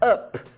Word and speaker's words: up: dizer pro alto e quando eu escrevo up o som fica o som de a up Então também não tem